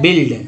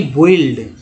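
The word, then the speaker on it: build: अब देखिए बिल्ड क्या है, बिल्ड न कि बोइल्ड, इसको बिल्ड पढ़ेंगे, यू यहाँ भी साइलेंट है।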